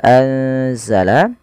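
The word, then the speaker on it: أنزل: Kemudian pada lafal anzala ada nun sukun ditandai dengan warna nun yang berwarna hijau dan tidak berharakat ini bertemu dengan huruf salah satu huruf ikhfa yaitu huruf zai. Maka cara membacanya yaitu memasukkan nunnya atau menyamarkan nunnya kepada huruf zai ya. Anza langsung kepada makhraj daripada huruf z.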